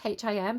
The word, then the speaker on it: HIM: So the song is Wicked Game by, is it pronounced Him? H-I-M, Him.